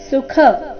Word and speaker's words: ಸುಖ: ಅಧಿಕ ಯ ಸಂಯುಕ್ತಕ್ಷರ ಯದ್ರಾಜ್ಯ ಸುಖ ಸುಖ ಸುಖ ಬೇಡ ಸುಖ ಖ ಇಲ್ಲಿ ಮಹಾಪ್ರಾಣ ರಸ್ವ ಬರಬೇಕು ಸುಖಲೋಭೇನ ಯದ್ರಾಜ್ಯ ಸುಖಲೋಭೇನ ಹಂತುಂ